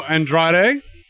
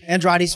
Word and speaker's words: Andrade: I'm here at Katsucon with Dino Andrade. I said that right? Oh, yes, that's just fine. Andrade's fine.